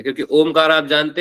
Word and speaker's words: ओम: का प्रतीक है क्योंकि ओमकार आप जानते ही हैं कोई कभी ओम नहीं होता है अ उ म होता है अ हम ऐसे उच्चारण करते हैं तो लोगों को